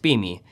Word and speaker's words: SPME: Solid phase microextraction, or SPME, sometimes pronounced SPME, is a fast and versatile sample preparation technique that reduces sample handling and solvent consumption.